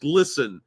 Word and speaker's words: GLSEN: and merch collection will be donated to glsen pronounced glsen a lobbying firm with the goal of pump